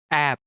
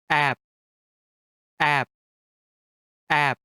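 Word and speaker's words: 앱: This is read as app, which means app. For example, App Store. Notice this letter at the final position of the syllable? Yes, it's B. Its sound must have been B. However, it is a bachim which is found in the final position of the syllable. Then, its sound becomes P.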